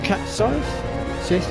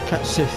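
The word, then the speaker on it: Cait Sith: Okay, so now we need to talk to Cat Scythe. Cat Sith even. I will get the pronunciation right.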